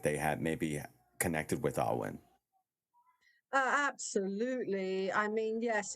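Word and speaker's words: Ogham: of 25 sacred trees which they called the Owen it's spelled o g h a n like ogam but you pronounce it oh I'm like Owen money that's how I always say to people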